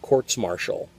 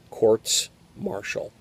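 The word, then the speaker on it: courts-martial: proceedings captains masts and courts marshall and that's the correct pronunciation of the plural quartz marshall i wasn't happy being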